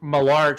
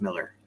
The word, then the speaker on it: Millar: time on this channel malar time well it's actually pronounced Miller oh is it pronounced Miller oh yeah you know it's written as Millar yeah well I have